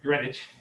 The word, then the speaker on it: Greenwich: through technically greenwich england just spelled greenwich but you don't pronounce it that way it's greenwich okay which is wanted